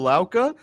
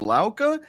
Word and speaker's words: Lauka: luk entertainment today we are joined by laa who is a legal and boardroom adviser a dedicated partner at David wearinga and laa and a community leader welcome to the